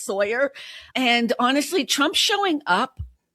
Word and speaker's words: Sauer: John Sauer, or Sawyer is how you say his name. I like Sauer better because it looks like that, but I think it's Sawyer.